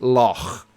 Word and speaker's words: loch: Somebody's asking me what's my pronunciation of loch. That's my pronunciation. Because in the Welsh language, CH together is like you're clearing your throat. So yeah, I was going to say, CH Loch together Ness is like phlegm.